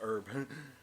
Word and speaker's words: herb: Yeah, he didn't eat any of the heart-shaped herb. Or herb, if you're going to pronounce it with the British version, which we're not British, so why would we?